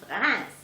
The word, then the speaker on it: Reims: Well, Or- if you pronounce it in English, but if you pronounce it in French, French, it's- Reims. Okay.